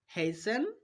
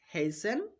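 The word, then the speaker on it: hasten: টিটা সাইলেন্ট রাখবো। উদাহরণ দেখো। লিসেন হেসেন ফাসেন। তিনটা উদাহরণের মধ্যে আমরা এসটিই পাচ্ছি। সেইজন্য আমরা টিটা সাইলেন্ট রেখেছি। এখানে টি এর উচ্চারণ করিনি। দেখো লিসেন হেইসেন ফাসেন চলো আমরা আরো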